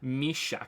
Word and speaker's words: Mishak: My stupid Polish name is pronounced Mishak.